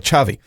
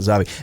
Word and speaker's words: Xavi: at the end there, First name is like the Spanish footballer, Xavi. But if he, I think they pronounce it Xavi, if he hits that kick at the end, your whole rankings would be up.